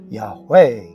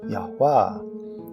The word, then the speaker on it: Yahweh: is adding a consonant, and Hebrew rules of grammar dictate that the emphasis is on the final syllable, Yahweh, or, if you choose, Yahweh.